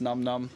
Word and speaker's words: Nam Nam: It's pronounced Num Num because it's from like an old Peter Sellers movie, The Party.